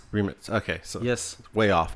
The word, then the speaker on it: Rimac: Rimac? Remitz.